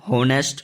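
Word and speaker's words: honest: आपने कई बार बोला होगा कि जे काफी ईमानदार है, ठीक है, तो एन होनेस्ट मैन, ठीक है। होनेस्ट, होनेस्ट में जब आता है, ठीक है, एच साइलेंट में है, तो जब एच साइलेंट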